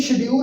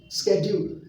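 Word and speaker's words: schedule: और नाल ही इत्थे एक आपां नवां वर्ड सीख रहे हैं, इन्हें शेड्यूल नहीं कहना, अजकल जिहड़ी इहदी प्रोनाउंसिएशन है वो हैगी है स्कैड्यूल, स्कैड्यूल।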